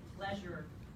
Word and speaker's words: pleasure: Pleasure. This z, that right there is the z sound, like in treasure.